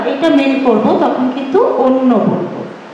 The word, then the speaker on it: অন্য: ওটা ঠিক করব মেনলি, সেটা হচ্ছে অন্ন মা নয়, অন্য মা। অন্ন কথাটার অর্থ খাবার। যখন আমরা অন্য মানে আরেকজন এই অর্থে বলবো, তখন আমরা অন্ন বলবো না, কথাটা উচ্চারণটা হবে অন্য।